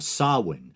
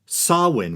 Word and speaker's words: Samhain: Pagan New Year Festival sawin spelled and often mispronounced as Samhain or Samhain sawwin which is thought to